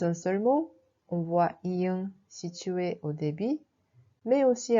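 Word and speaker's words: 이응: Mais si elle est utilisée comme consonne finale, la prononciation devient ung.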